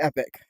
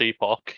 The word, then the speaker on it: Epoch: then there's Last Epic. Last Epoch, yeah. Yeah, Epoch. Yeah, I keep mispronouncing it, and she keeps correcting me.